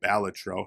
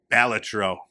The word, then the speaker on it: Balatro: you're supposed to say it, Balatro.